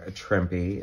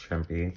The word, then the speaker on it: Trimpe: thomas was writing this herb trimpy it is pronounced trumpy thanks to my friend matt for telling me that we're always um telling